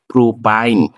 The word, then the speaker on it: প্রোপাইন: তাহলে এটার নামকরণ যদি আমি করতে চাই, এই অ্যালকাইনের আইন উচ্চারণ হলে সেটা হবে প্রোপাইন।